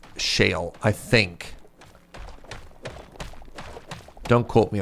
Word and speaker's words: shale: It rhymes with kale.